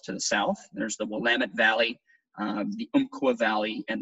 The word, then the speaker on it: Willamette: just a second so of course Willamette rhymes with damnit Valley is approximately 80